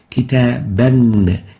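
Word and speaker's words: كتابًا: Now a book with Tanween, Fath, Kitaban, or Kitabun, Tanween Dhamm, or Kitabin, Tanween with Kasr, duplicate Fatha, duplicate Dhamma, duplicate Kasra, and it is pronounced like this: Kitaban, Kitabun, Kitabin.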